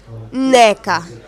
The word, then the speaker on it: Nneka: don't know i'm nigerian my name is spelt double n e k e pronounced neca which means mother is supreme go out get my